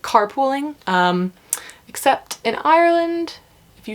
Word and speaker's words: Ireland: Most Americans pronounce it Ireland. Ireland. 3 syllables. That's wrong. I can't really do a good demonstration of how you say it, but it's like Ireland.